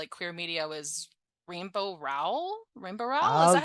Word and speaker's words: Rainbow Rowell: Rainbow Rowell?